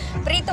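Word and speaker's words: Prieto: Preto pala ang tamang pronunciation.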